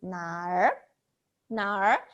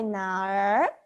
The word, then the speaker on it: 哪儿: 哪儿 the we need to round out our tongue, so maybe some of